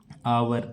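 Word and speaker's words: hour: लेकिन कुछ अपवाद होते हैं जैसे आवर ऑनेस्ट इनमें एच साइलेंट होते हैं।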